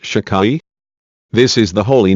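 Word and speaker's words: Shaddai: this name and the sefira a victory eternity pronounced shicai this is the holy name whose literal meaning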